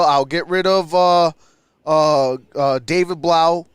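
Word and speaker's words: Blough: I'll get rid of David Blau, who I used to call David Blow, because at first I didn't know how to say his last name.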